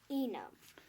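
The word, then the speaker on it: Enom: Enam. Enam. So Enam. So how do you spell it? E-N-O-M. So E-N-O-M. Yep. But how, you say it like it's E-N... U-M.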